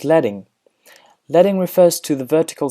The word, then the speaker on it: leading: Next up is pronounced leting.